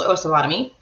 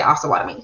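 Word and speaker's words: Osawatomie: oscilotomy it depends uh it cannot be pronounced osawatomy so the way that i tell people is oh salami but there are a lot of um locals that do say oscillatory so like we talked about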